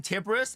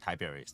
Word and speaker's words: Tiberius: I just I've been calling him Tibus and I just remember I just remember last time that he actually pronounced it Tiberius.